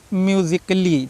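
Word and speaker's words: musically: हमेशा ध्यान रखना है जैसे कि लिखा है एम यू एस आई सी A double L वाई म्यूजिकली ठीक है म्यूजिकली लिखा है ए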